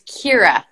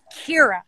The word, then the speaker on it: Keira: Okay, so my name is like ear, so it's Keira. Keira.